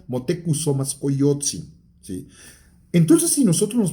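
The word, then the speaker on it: Motecuhzoma Xocoyotzin: El propio Moctezuma, empezando porque no se pronuncia Moctezuma, se pronuncia Motekusomascoyotzi, ¿sí?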